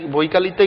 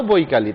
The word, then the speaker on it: বৈকাল: Very good বন্ধুরা, আমাদের সুন্দর একটা ক্যাফে আছে, অফিসারদের ক্যাফে, সেটা হলো বৈকালি, তাই না? হ্যাঁ, তবে বৈকালি এটা হবে না, এটা উচ্চারণ হবে বৈকাল।